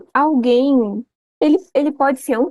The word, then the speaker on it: alguém: alguém ele ele pode ser um tritongo esse não não não você fala a guem não Tá vendo você não pronuncia o u né Uhum você só